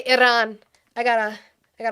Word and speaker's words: Iran: Shades says quit rolling your arms when you say Iran. It is not Latino It is not a Latino word. You do not roll our dumb It's pronounced and then you spelled Iran correctly. Don't roll your arms.